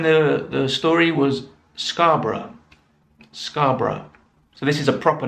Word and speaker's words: Scarborough: we saw in the the story was scarborough scarborough so this is a proper noun in this